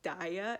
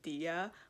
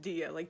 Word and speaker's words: Diya: Diya mentions that her name is often mispronounced as Daya instead of Diya, but it is pronounced Diya. The game even tells you that. It tells you that it's actually pronounced Diya, not Daya.